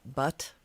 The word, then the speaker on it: Bhat: like a bot bot just like a silent h it's more uh like a butt like uh it really